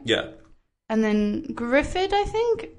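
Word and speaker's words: Gruffudd: And then Gruffud, I think? Because if you think of Cymru, the U is a Y sound. Yes. So Gruffud, Gruffud.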